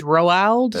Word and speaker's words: Roald: It's like Ronald without an N. Right. It's Roald Are you sure?